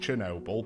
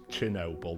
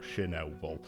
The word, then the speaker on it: Chernobyl: Uh, I think we've all heard of Chernobyl, and it is pronounced Chernobyl because I Googled it before. Comments, stop it. It's Chernobyl, not Chernobyl.